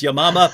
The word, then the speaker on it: Yamama: And writing on this, which Hatun just mentioned, the Battle of, I say Yamama, that she pronounced it correctly, which is Yamama, but as soon as anyone says Battle of